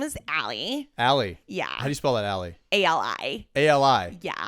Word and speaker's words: Ali: my name is Allie. Allie. Yeah. How do you spell that, Allie? ALI. A-L-I. Yeah. Okay. Like Ali. Like Muhammad Ali.